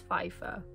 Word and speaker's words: Pfeiffer: And also, I don't know how to pronounce this. Oh my god, but Michelle Pfeiffer. I think it's Pfeiffer.